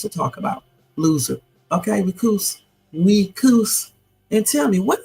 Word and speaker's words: recuse: probably recuse okay so this is how you say it okay listen very carefully recuse you hear it listen again recuse okay one more time recuse Okay.